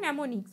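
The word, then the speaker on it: mnemonics: ये am silent होता है, पढ़ते हैं इसको नेमोनिक्स।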